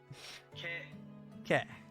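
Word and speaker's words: ケ: Ke. It's the consonant followed by a vowel, pronounced ke, like in cat, or, what's another example?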